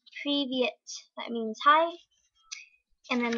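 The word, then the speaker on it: Привет: So it's Privyet.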